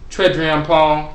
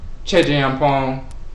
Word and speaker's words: Twereduampon: In Akan, the TW can be pronounced Chwe or Che. So when you hear Twereduampon, sometimes they pronounce it Twereduampon, Twereduampon, or Twereduampon.